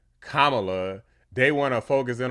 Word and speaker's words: Kamala: name pronunciation issue because she said uh Kamala rather than Kamala they want to focus